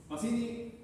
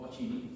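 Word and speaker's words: Pacini: Pasini o pachini como quieran pronunci ya cálciulo, ligamento, menisco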